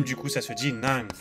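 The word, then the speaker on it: หนัง: Et film, du coup, ça se dit Nang, Nang, avec un G à la fin, mais qu'on prononce jamais très fortement.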